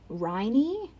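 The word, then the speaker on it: Rhynie: fungal fossils in the village of riney it's spelled r-h-y-n-i-e um and then that's in northeast scotland and the fossils were 407 million years old shout out to the 407.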